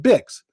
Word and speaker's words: BICS: So it's actually BICS, and that's an acronym, another acronym, and it stands for Building Industry Cross Connect, but it's pronounced BIX, so people just spell it BIX.